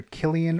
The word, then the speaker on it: Cillian: uh portrayed by uh some people pronounce his name either Killian or Cillian Murphy so Celia Murphy I'm gonna go with Cillian for now uh Celia